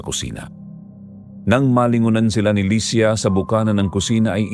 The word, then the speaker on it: Lia: Nasanay na lang si Lia na ganon ang pagkakabigkas ng pangalan niya. Pero kung abaybay ang pagbabasihan, Lia ang tamang bigkas.